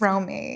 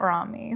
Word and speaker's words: Romi: Sometimes I'm like, actually, it's Romy, like not Ramy.